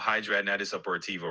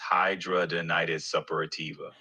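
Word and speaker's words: hidradenitis suppurativa: You're talking about hydraitis upperiva, right? That's how it's pronounced. Hydraonitis supporativa.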